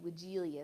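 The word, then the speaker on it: Weigela: are woodelias it's w-i-e-g-e-l-a wigilia is how i pronounce it that's the best thing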